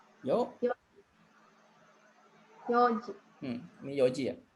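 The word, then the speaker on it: 四時: Yonji. Yoji. Ini Yoji ya. Jadi Yoji benar ya. Jadi jangan ada n-nya. Jadi kalau di jam itu nggak ada n-nya ya. Empatnya. Jadi Yoji gitu ya.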